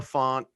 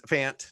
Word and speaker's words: Fant: injury of note there noah font is fant no offense it got